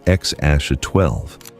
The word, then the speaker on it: X Æ A-Xii: himself piece by piece, explaining that the letter spelled out a phrase closer to X Ash A-12.